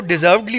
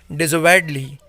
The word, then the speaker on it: deservedly: वैसे लोग इसको deservedly बोलते हैं, जैसे deserve word होता है उससे बनता है, but the correct pronunciation you can check into dictionary, it's deservedly.